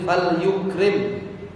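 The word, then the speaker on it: فَلْيُكْرِمْ: Wa man kana yu'minu billahi wal yawmil akhir falyukrim. Bacanya fal yukrim jarahu.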